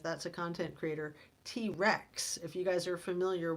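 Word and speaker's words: T. Rex: And then these young adults, I mean, I think a T Rev, and I'm not saying it right, not T Rev, that's a content creator. T Rex, if you guys are familiar with the amazing rock and roll band T Rex.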